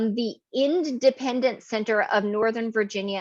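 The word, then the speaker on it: Endependence: So I will say the Independent Center of Northern Virginia, and I'm enunciating like that because it's spelled like the end of dependence.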